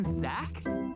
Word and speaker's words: Zach: Actually, the name Zach. The H is silent.